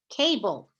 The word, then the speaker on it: cable: Some programs say that this syllable type does not have a vowel sound. This practitioner, being me, I would say that the vowel sound is really like, let's look at cable, is really a schwa, an that's in between